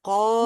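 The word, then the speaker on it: ق: মাখরাজ মোটামুটি হয়ে গেল আর এই কফ জিহ্বার গোড়াটাকে আপনার মানে তালুর দিকে ধাক্কা দিতে হবে হ্যাঁ হ্যাঁ তালুর সাথে যুক্ত করতে হবে জিহ্বার গোড়াটা উপরের তালুর সাথে মিলিয়ে আমরা কফ উচ্চারণ করতে পারি আর কাফ উচ্চারণ করবো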